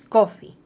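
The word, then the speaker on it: Ko-fi: Igualmente, podéis invitarme a un café virtual para mostrar vuestro apoyo en la plataforma de microdonaciones Coffee. Se escribe K o FI.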